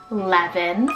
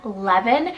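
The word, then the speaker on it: Leven: Levin, spelled L-E-V-E-N, Levin.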